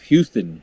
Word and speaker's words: Houston: Houston downtown New York is spelled the same way as Houston. Yes, but it's called Houston But it's- because that's the name of that street.